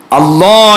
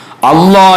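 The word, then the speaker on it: الله: മനസ്സിലാക്കണം അള്ളാ എന്ന് പറയുമ്പോൾ ഒരിക്കലും പല്ലിൽ നാവ് തട്ടാൻ പാടില്ല മറിച്ച് പല്ലിന്റെ താഴെയുള്ള നമ്മൾ ലാ ലാം ഉച്ചരിക്കുന്ന സ്ഥലത്ത് സമയത്ത് നാവ് എവിടെയാണോ തട്ടുന്നത് അവിടെ തന്നെയാണ് അള്ളാ എന്ന് പറയുമ്പോഴും നാവ് തട്ടേണ്ടത് അവിടെ തട്ടിച്ചിട്ട് നാവ് ഒന്ന് വളച്ചു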